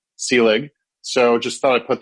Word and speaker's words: Selig: of your podcast wrong you also uh mispronounced my last name but that's not an egregious sin because that is the second most common pronunciation that i get or it's the one i accept after the actual pronunciation which is sealing so just thought i'd